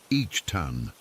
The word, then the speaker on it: Ethan: Our dad is Brazilian, and he has this very specific way of pronouncing Ethan's name with a slight accent that nobody else ever gets quite right. It's like each tan with a soft t instead of the harder e thun that most people say.